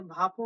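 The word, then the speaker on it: 밥: হ্যাঁ, অনেকে ভাপও উচ্চারণ করে, ভাপ, ভাপ। হ্যাঁ, এরকমটা উচ্চারণ করে। আবার ফাপও উচ্চারণ করে, যেটা উচ্চারণ করে যে যেরকমটা মনে করে, ঠিক আছে।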